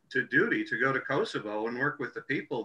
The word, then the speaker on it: Kosovo: to mention to kelly it's pronounced kosovo and sean mcgann uh